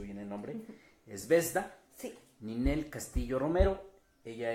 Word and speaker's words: Zvezda: Y hoy tenemos aquí en la redacción de la Jornada de Oriente, a ver si pronuncio bien el nombre, es Vesda, sí.